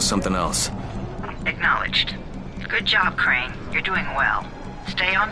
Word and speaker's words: Crane: no my name is crane okay crane rhymes with train and brain and sane and gray and Ray